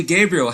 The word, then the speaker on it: Gabriele: talented singer-songwriter out of new york city gabriel how are you doing this evening oh gosh sean you nailed the pronunciation of my name so we're off to